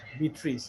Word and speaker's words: Beatrice: Beatrice. Beatrice, right? Beatrice, not beat rice, huh? Okay. Big rice. Because if you say Rice. beat Beat rice, Beatrice. Beatrice, yeah, it's Beatrice.